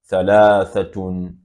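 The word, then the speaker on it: ثلاثة: Then 3 is written in this format, and it is pronounced as thalathatun, 3.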